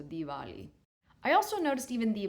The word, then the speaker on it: Diwali: But that's why the W it would kind of become more like a V. So Dvali.